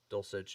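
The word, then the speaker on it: Dulcich: i'm excited for dolce dolcich is how you pronounce his last name dulcetch and alberto i just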